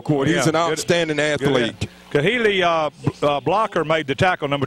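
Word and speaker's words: Khali: Kahili Blocker made the tackle, number 28, a running back for Northview, covering the kick real well. So Keely Blocker, I believe is how you pronounce it, K-H-A-L-I.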